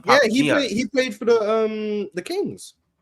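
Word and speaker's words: Papagiannis: But it's pronounced Papa Giannis.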